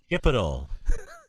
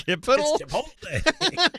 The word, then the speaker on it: chipotle: Yeah, he says chipital, and I'm like, it's not chipital. What is chipital? That's chipital. It's chipotle.